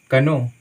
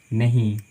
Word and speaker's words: know: जैसे कि मानिए यहाँ पे KNOW, आप इसे क्या पढ़िएगा, कनो नहीं, इसका उच्चारण हम नो करते हैं। नो का मतलब होता है जानना। ठीक है, तो यहाँ पे के साइलेंट है, इसका उच्चारण हम बिल्कुल नहीं करते हैं।